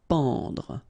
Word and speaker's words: pendre: Okay, so nasal here, en, en. Pendre, pendre. Supporter.